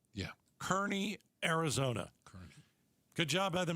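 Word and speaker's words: Kearny: Rhymes with Ernie. Kearney.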